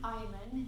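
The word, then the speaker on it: Eymann: My name is Eyman, it's spelled E-Y-M-A-N-N, and I'm from Bandon, Oregon.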